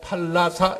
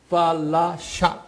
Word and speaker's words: 팔라샤: 제가 팔라사 이렇게도 발음하지만 정확하게는 F 발음이에요. 팔라샤 SHA. 이렇게 부르거든요.